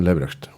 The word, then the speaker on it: Leberecht: And is the pronunciation Leberecht? Perfect. Yeah. It means live right, do the right thing.